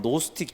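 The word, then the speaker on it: Gnostic: 괜찮습니다 영지주의 영어로 하면 노 스틱 주의자 될 뭐 영어로 스펠링 하면은 쥐 붙었으니 깍은 5t 스틱이 뭐 그 노티 즘 이렇게 합니다만 쥐가 얘 말하면 묵음 이 되니까 노 스틱 주 의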